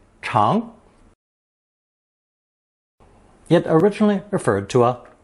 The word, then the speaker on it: 常: Pronounced second tone, 长, 长.